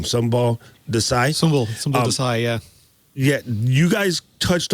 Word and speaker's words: Sumbul Desai: Sumbul Desai, yeah.